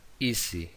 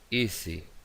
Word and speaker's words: easy: Por ejemplo, easy, easy, Vemos que vibra ahí esa S entre vocales.